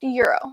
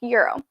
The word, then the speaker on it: gyro: i believe it's pronounced euro gyro g-y-r-o i think it's pronounced euro so my husband was